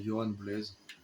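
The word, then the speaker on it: Yoan Blaise: Si vous cherchez son nom, c'est Johan Blaise. Comme ça se prononce.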